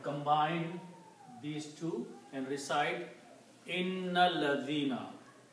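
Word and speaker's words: إِنَّ الَّذِينَ: But when you read together with inna and alladina, then you do not pronounce this alif here.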